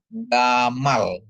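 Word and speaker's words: גמל: apa yaah terus ada Gmail dikasih kamat mem dikasih kamat ditambah lamet ya jadi bacanya Gamal ya gal ya gal jadi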